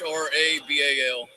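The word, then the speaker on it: Hrabal: Rabal, it's the H is silent.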